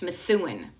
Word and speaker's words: Methuen: It's Methuen.